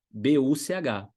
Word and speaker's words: Buch: CH em alemão, anota essa regra. CH, depois das vogais A, O, U, é um rasgadinho.